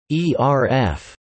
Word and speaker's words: ERF: In stage lighting, an ellipsoidal reflector floodlight, sometimes known by the acronym ERF, which is often pronounced ERF, better known as a scoop, is a large, simple lighting fixture with a dome-like reflector, large high-wattage lamp and no lens.